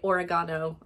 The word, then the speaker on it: oregano: Love the way that the British say oregano.